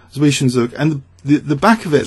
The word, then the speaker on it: Zwischenzug: of trying to say it how it's spelled, Zwischenzug, and the back of it, Zug, reminds me of bug.